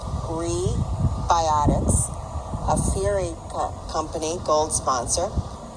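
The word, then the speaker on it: Rebiotix: pdi healthcare gold sponsor rebiotics pronounced gree biotics a fury company gold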